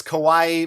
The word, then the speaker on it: kawaii: terrible with language but i do know that one word depending on how you slightly pronounce it could actually mean scary which i guess is thematically when this video is coming up right now no it's kawaii meaning cute in japanese of course anyway the